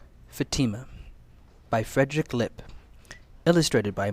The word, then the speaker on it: Fatima: Sometimes my name makes me feel different, Fatima thought, as she studied herself in the mirror. Fatima had learned to answer slowly when people asked her name. She pronounced each syllable, Fa-ti-ma.